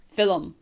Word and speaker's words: film: for like a movie we use two syllables Phil um are you gonna see